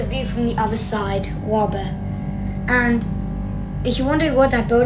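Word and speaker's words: Łapy: Station Łaby. Łaby. So now approaching Łaby station, which is spelled W-A-L-P-Y. You may be thinking, it's not called Łaby, but it's the secret. It actually kind of is.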